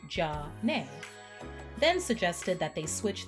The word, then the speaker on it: Zhané: Renee had the idea to use the French pronunciation of their first names, Jean and Renee, which sounded like Jah-Nay, then suggested that they